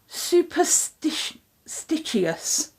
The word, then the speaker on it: SuperStitchious: in the description, called SuperStitchious. So it's like superstitious, but it's stitch instead of SuperStitchious.